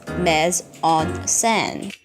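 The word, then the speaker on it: mise en scène: San is H me a French word which pronounced mez on sand so the purpose of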